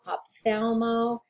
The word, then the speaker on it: ophthalmo: nephro nero onco ophthalmo ophthalmo is one of those words that it has more letters than it sounds like and they don't appear to go together the way that that you would think make sure you don't forget that oph before you get into that th that's one of those that you just have to study you just have to memorize osteopathopedo psycho radio rhino